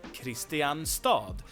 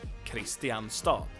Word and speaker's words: Kristianstad: It's due to dialects and so on and this is the pronunciation that got spread throughout the country. So this is the real pronunciation. No one says Kristianstad.